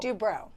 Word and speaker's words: Dubrow: Is it Dubrow or Dubrow? Dubrow. Dubrow. I Yes. said it right the first time.